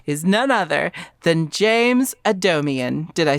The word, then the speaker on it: James Adomian: very special guest is none other than James Adomian.